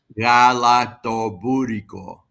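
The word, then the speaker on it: galaktoboureko: Pronounce that dessert again. Galaktobouriko.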